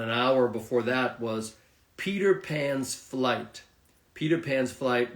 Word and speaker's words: Peter: P okay but in in American uh uh English they say the r instead of the T So Peter Peter pen Peter so